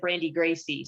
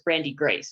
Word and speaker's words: Brandi Grace: me brandy but when you said my name you said brandi gracie so it's brandi grace i was just correcting